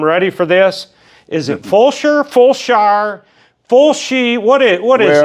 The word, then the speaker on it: Fulshear: Well, I tell you what, it's Fulshear. Fulshear. But a lot of people look at it and go Fulshear. Fulshear. And then you look at old photographs and it's spelled a different way all the time. Oh my gosh. It's Fulshear.